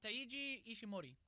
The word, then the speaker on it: Taiji Ishimori: You have the X Division champion, who is I can't even pronounce because it's a Japanese name. Taiji Oh, Ishimori. Taiji Ishimori.